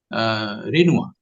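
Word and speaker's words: Renoir: के आइकन रहे हैं रेनुआ हम हम जिसकी spelling R ई एन ओ आई R French होने के कारण रेवा और उनके इंटरव्यू अगर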